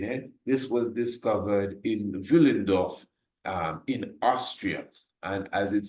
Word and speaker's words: Willendorf: It's spelled with a W, but you know how it is with the German language, Willendorf.